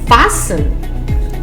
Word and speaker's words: fasten: The silent letter T. Interview, buffet, gourmet, rapport, penchant, listen, glisten, hasten, fasten, castle, whistle.